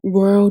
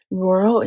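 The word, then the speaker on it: Rhoro: they they're really nice um I'll link them roro designs that's what it is I knew it was going to bug me roro it's spelled r h o r o and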